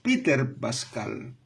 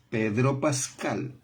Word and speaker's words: Pedro Pascal: Porque ellos pueden decir Peter Pascal. No, Pedro Pascal.